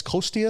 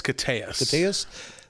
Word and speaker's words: Koteas: of that movie is, and I like, is it Elias Kosteas? Is that how you pronounce his name? Elias Koteas.